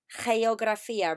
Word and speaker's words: geografía: Geografía. Remember, it's a hey. Hey, geography. Hey, geografía.